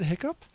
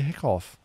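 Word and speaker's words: hiccough: this has broken me do they pronounce it hiccup or they say hickoff so confused i've never heard this before i've watched so much bbc programming they pronounce it the hiccup but they say hiccup they spell the hickoff what the hell's up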